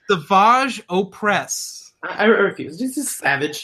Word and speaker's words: Savage Opress: The Maul stuff was wonky with Savage Opress. That name alone is just... Is that how you're supposed to pronounce it, Savage? Yeah. Really? It's Savage Opress.